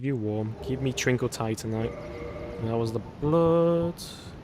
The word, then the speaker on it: Titanite: Is it called Titanite?